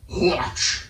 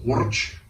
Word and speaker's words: Horch: I want to say his name in German, but Horch. I don't know. Just gotta roll the R. Horch.